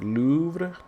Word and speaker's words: Louvre: In order to enunciate that name correctly, you have to roll that R, but you still need to say that V.